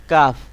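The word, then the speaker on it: قاف: অক্ষরটি আছে হলো কাফ জিহ্বার যে গোড়াটি আছে তার একটুখানি সামনের অংশটাকে আপনার উপরের তালুর সাথে লাগাতে হবে যেমন কাফ কাফ কাফ এরকম ভাবে উচ্চারণ করতে হবে কাফ একেবারে গোড়া না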